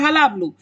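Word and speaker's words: hullabaloo: हलाबलू, इसकी pronunciation है हलाबलू।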